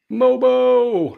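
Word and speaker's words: Mogbo: Um, Jonathan Moogbo, your guy. Oh, yeah. Mobo. Uh, Sunday 1711 and seven. Two blocks, two steels. Um, oh, so it's just mobo. The G is silent.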